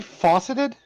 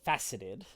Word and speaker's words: faceted: leafy end i'm sorry did you say fauceted yeah i think you mean fast a lot of yeah faucets all right everybody back up off of my pronunciation all right it's really rare that we get to make fun of your pronunciation so yes it is it is faceted there we go out